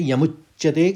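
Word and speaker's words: यमुच्यते: साथ ही आ जाएगा वैसे शब्द वो यम और उच्चते है लेकिन दो संधि विच्छेद में यमुच्चते उसको उच्चारण करेंगे तीसरे चरण को देखिए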